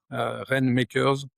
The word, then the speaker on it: Rainmakers: J'ai un compte LinkedIn Christophe, Tézenas Dumoncel ou alors sur, le site internet de Rainmakers and Partners, Rainmakers, ça s'écrit, en anglais comme ça se prononce, and Partners, notre société est à Grenoble.